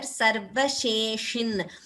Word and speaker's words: सर्वशेषिन्: The sha pronunciation everywhere, sarvasheshin. So this word has sa, sha and sha. So that should be clearly pronounced. Sa, sha, sha.